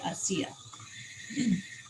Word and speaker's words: ASEA: a resource so yes asea is spelled a s e a so a c and then they they usually say i see ya and um i am